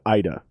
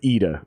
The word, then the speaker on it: Ida: band with this girl named ida or eda depending on how you pronounce it she she said both were okay so either eda edu